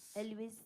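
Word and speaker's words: Elwes: do you say his last name El Elis Elis the guy from Saw right Elis okay go Elis di knows ah that must have been a hard preschool life for that guy it's Carrie Elis well have you been to Oklahoma City before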